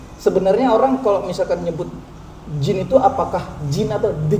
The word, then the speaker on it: DJIN: ya D itu nggak ada disebutin lagi. Nggak perlu dibaca lagi, Nggak langsung nggak perlu.